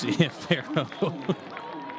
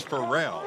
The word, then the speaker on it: Pharrell: It was Pharaoh. Oh, no, that was Pharrell. Pharrell, there you go. Yeah, maybe that's what he goes by. It's spelled the same way. I was thinking Pharaoh.